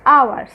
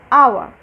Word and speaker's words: hour: will come after dash hour see here also h is pronounced like a vowel our that's why instead of